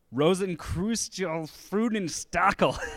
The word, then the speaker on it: Rosenkreuzstilette Freudenstachel: Rosenkreuzstilette Freudenstachel.